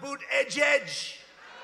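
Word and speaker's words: Buttigieg: you know why because nobody can pronounce his name nobody has any idea who Ned's it's they say say edge edge and he presides over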